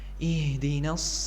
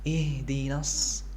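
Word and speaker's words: اهدنا: Nah, di ayat ini yang harus kita perhatikan pertama kali adalah huruf ha. Jangan sampai kita membacanya terlalu tebal atau seolah-olah ya keluar dari dada. Karena huruf ha sendiri adalah huruf yang keluar di tenggorokan. Jangan sampai kita membacanya seperti ih terlalu tebal.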